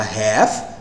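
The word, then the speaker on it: half: a questão da pronúncia da palavra metade h a l f o americano fala Hair O a tem mais som de ar né teve uma leve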